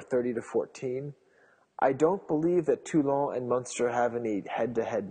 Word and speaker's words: Toulon: So that's pronounced Toulon for you Anglophones out there.